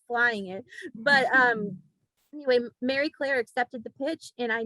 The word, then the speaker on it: Marie Claire: pitching it out and mary claire which i mispronounced my whole life saying marie claire it's it's very clear and so um that